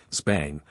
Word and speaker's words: Xbang: Meanwhile, other companies like Xbang, often pronounced Zbang, are entering the humanoid robot industry, too.